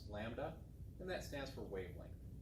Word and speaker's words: lambda: We give it this symbol, lambda, that weird looking Greek L is pronounced lambda, and that stands for wavelength, the distance between two peaks.